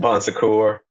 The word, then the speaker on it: Bon Secours: Bon Secours.